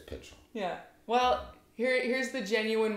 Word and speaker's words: Pychyl: Because most people say Pychyl or Pychyl, but it's Pychyl.